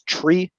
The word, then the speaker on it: three: are all normal but three is pronounced as tree like a tree with bark and trunk and probably alec hanging